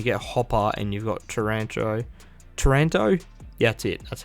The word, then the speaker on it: Taranto: You know, when you get Hopper and you've got Taranto, yeah, that's it. That's how you pronounce it.